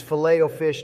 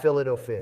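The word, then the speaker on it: Filet-O-Fish: Say it like Obama did. It's fileto fish, not filto fish.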